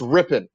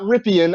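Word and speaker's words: Rypien: It's Rippon. It is not Ripien. I know that's how it's spelled.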